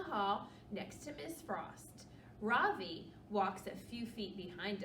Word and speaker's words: Ravi: My name is not Ravi, he says. It's pronounced Ravi.